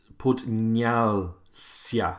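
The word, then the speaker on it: поднялся: Okay, is on podnial sia. Sia is where the stress is.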